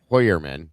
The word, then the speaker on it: Heuermann: I'm a little weirded out by by Heuermann or Hoyer name's actually pronounced Hoyermann sorry.